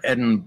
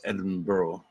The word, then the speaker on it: Edinburgh: Well, I know it's not Edinburgh. Black lace sampler. Scotland. It's Edinburgh. Oh, look at that bad boy.